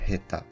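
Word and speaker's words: 下手: dans le premier exemple ha s'écrit avec shta et T mais se lit Heta c'est une lecture inventée pour correspondre au sens du mot il en existe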